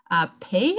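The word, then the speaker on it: Pei: is the chinese-american architect whose name is pay I am pay you spell it P e i and actually he commissioned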